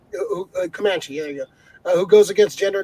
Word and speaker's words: Comanche: thunder uh stars as kamachi woman a komachi woman pronounced comanche uh who goes against